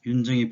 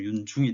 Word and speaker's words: 윤증: 그리고 윤증이 보입니다. 그러면 어떻게 해석이 됩니까? 윤휴와 윤증의 제 발음이 조금 윤중이 됐는데요.